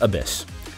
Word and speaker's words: ABIS: advanced brain investigation squad abis pronounced abyss whose job it is